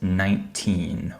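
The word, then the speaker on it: nineteen: The number 19 is pronounced 19 with a T sound.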